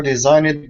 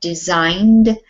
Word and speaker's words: designed: the other thing um make sure when you say word like designed this is not design ed it's one syllable well two syllable designed with a d sound on the end but not an ed can you repeat it